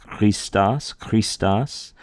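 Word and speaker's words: Χριστός: So, for example, the name Christ, Christos, we do the K, a K. Kind of clear your throat gently, not over the top. Clear your throat. Clear your throat gently as you say Christos.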